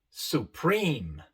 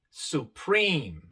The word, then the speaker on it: supreme: Aquí tenemos la E separada de otra E por una sola consonante y viene al final de la palabra. En estos casos, la primera E se pronuncia larga, I, y la E al final queda muda. Su función, otra vez, es decirnos que la primera E es larga, I. Athlete, supreme, sincere. La E también se pronuncia